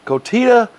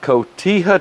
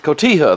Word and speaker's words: cotija: i got some cilantro kotit kotita i can't pronounce this cotija cheese cotija there you go go out and get